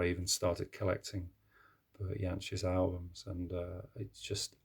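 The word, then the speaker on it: Jansch: to see him live this is bertie yanch or janch as i believe it's uh supposed to be pronounced um and the song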